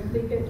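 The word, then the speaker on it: Tlingit: paddling song and um it's by the clink it's spelled clink t l i n g i t and this is a big uh tribe area up up in this area um Main Southeastern Alaska and the clink tribes yes here we go here you have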